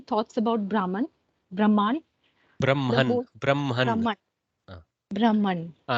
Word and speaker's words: Brahman: Brahman. Don't make it Brahman. Okay, the Brahman is how we pronounce it in Sanskrit. Brahman. Okay, or Brahman if you want to go Hakara first.